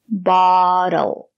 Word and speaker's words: bottle: bottle opener a bottle the letter T is between vowels phonetically we pronounce it as the fast the bottle B we use the same sound as in not hot stop bottle bottle a bottle opener